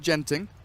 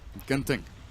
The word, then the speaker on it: Genting: If you're wondering, in Singapore they pronounce it Genting, which is bad and wrong. In Malaysia, Genting.